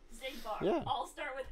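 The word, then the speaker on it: Xigbar: Half the Organization 13 members start with an X and are pronounced Z. Yeah. Zemnis, Zaldin, Zigbar.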